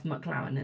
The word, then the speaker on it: McLaren: I'll spell it to you. McLaren. That's McLaren, isn't it?